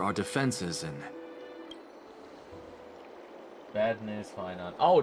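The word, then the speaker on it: Phainon: His name is Finon, and it rhymes with Paimon.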